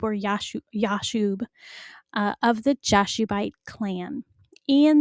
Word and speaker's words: Jashub: Usually it's a Y sound, Yob or Yashub, of the Jashubite clan.